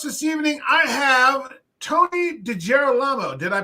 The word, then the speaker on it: DiGerolamo: In the house this evening, I have Tony DiGerolamo. Did I pronounce that correctly? Yeah, it's close enough. DiGerolamo.